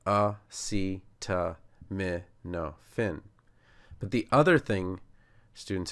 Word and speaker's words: acetaminophen: And the no, although it looks like no, opposite of yes, which my children love to say, it's actually a schwah. So it's an h. So it's like canon, which you would have in maybe a civil war battle or a canon as in a law. And then fen is the phen at the end of hyphen.